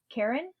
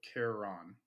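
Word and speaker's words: Charon: say his name wrong Karen Karen Karen Carol Sharon no it's Karen Karen it's not Karen karon karon or it's like Caron yeah Caron and then um Cerberus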